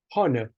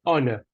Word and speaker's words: honor: thing in the English language we don't say hon we say honor we remove the edge so during the meeting